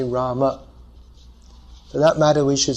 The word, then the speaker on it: Rama: So to say the name properly according to Sanskrit pronunciation, we should say Rama.